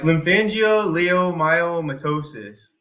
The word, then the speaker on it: lymphangioleiomyomatosis: hard to see but it's ly yeah it's lymphangio leom myomatosis is how you say it and it's a